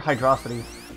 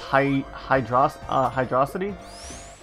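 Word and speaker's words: Hydrocity: And I know the director said it's pronounced Hydrosity. No, it's Hydro City.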